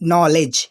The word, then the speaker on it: knowledge: तो गाइस जब मैं अगला जो एग्जांपल लेने वाला हूँ थोड़ा सा लंबा है, ठीक है, नॉलेज।